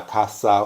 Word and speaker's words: caça: human hunt begins, because when you say the C with that accent under it, it's pronounced as an S. So in Portuguese you say it, começa a caça humana.